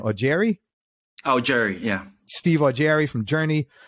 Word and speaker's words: Augeri: How do you pronounce the last name? Augeri? Augeri, yeah.